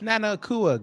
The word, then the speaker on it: Nana Akua: I've been saying her name wrong all day. Yes, Nana Akua.